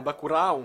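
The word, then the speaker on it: Bacurau: Bakurao, Bakurao ou Bakuro si on le prononce Bakuro, ouais. Bakuro, si on le prononce en français. c'est brésilien, donc je pense qu'on a un Bakurao.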